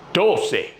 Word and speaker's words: doce: Once, doce, trece, catorce, quince. What do you hear there at the end? They all end in say. And most of them have minus 1, most of them have 2 syllables.